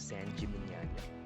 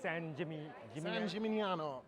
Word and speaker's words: San Gimignano: We then headed to the town of San Gimignano, and we learned its significance in Tuscany. We are in San Gimignano. Is that how you say it? How do you say it again? Is it San Gimignano.